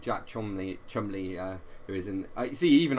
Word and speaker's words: Cholmondeley: So Chumley is spelled Cholmondeley, so it's pronounced differently to how it looks like it should be pronounced.